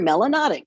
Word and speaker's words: melanotic: If you have a lot of melanin in your skin, you're melanotic, which rhymes with exotic.